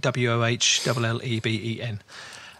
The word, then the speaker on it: Wohlleben: I suppose you pronounce it Wohlleben, Wohlleben.